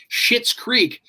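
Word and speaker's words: Schitt's Creek: creek yep and we were nervous about saying shit's creek yeah it's spelt s-h-i-t-t apostrophe s and uh yeah and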